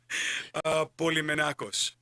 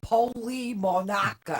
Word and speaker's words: Polymenakos: this is a Greek name. you think? Polymenakos. Oh, see, I agreed to that. What would you have said? Polymonacus.